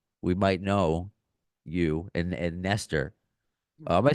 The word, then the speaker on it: Nestor: So it's just Nestor. No, it's Nestor. It's a bit different where we play. If we're in Norway, that's a different kind of pronunciation. And if we're like in America, which you said it, Nestor. But Nestor is the way it should be pronounced.